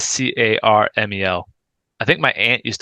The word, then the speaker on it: Carmel: No, that's Carmel. But it's Yeah, spelled the same. yeah, caramel. It's not Caramel. No, Caramel. the town is Carmel.